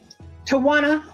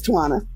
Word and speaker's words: Tuana: uh welcome in um toana to I hope I said your name right you said it right it's tuana okay welcome in hi